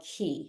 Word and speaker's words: Qi: feminine energy and this energy is called key it's spelled Qi um so this energy